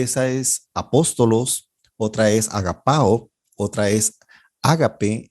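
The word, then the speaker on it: ἀγαπάω: La segunda es agapao, y aquí otra vez tiene el acento en la tercera alfa.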